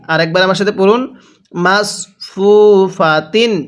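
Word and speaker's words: مَصْفُوفَةٍ: মাসফুফাতিন হ্যাঁ কিভাবে শিখবো মাসফুফাতিন আরেকবার আমার সাথে পড়ুন মাসফুফাতিন এটাকে সিন পড়বেন না পড়ুন আমার সাথে মাসফুফাতিন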